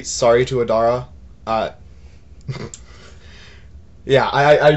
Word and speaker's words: Adara: did you say i i think i said like a daria or something sorry adara yeah her name is spelled a-d-a-r-a i'm terrible with names